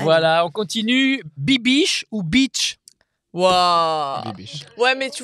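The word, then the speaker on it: Bitche: Alors, c'est Beach, B-I-T-C-H-E, Beach. Voilà. Et il y a une très belle citadelle à Beach, d'ailleurs. La citadelle de beach.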